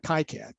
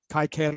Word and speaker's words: KiCad: a presentation on uh kicad kai cad or kicad i've heard it pronounced different different ways but it's a software